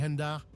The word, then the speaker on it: Hendar: Les Hendar s'écrivent H-E-N-D-A-R. Vous pouvez les mettre au pluriel avec un S. Cela se prononce comme hentai, mais en remplaçant tai par dar.